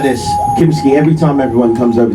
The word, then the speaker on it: Kimmiskiart: So my real name, how you pronounce it, is Kimmiskiart. Kimmiskiart. Kimmiskiart. There you go. And then like as you say it faster, people just go Kimski. Kimmiskiart. Like No, it's Kimmiskiart.